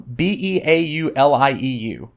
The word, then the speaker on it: Beaulieu: I think it's Beaulieu? Beaulieu.